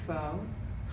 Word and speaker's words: pho: you I'm obsessed with phone which is not true not actually pronounced oh it's pronounced in a way that is almost a swear word but it's spelled pho